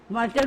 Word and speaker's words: martyr: Martyr माने शहीद. The spelling is M-A-R-T-Y-R, but pronunciation M-A-R-T-E-R, martyr.